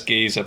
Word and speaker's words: Giza: really say guy no he says giza but i thought if i said you'd get it straight away come on that's sorry giza rhymes with pizza so so i was